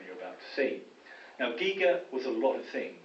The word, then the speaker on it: Giger: Giger, sometimes pronounced Geiger, but it's Giger, Hans Rudolf Giger.